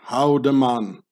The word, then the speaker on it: Haldimand: to lay their eggs in the bernese swiss german dialect where the emmental lays in the name haldiman gets pronounced how the man meaning or how demon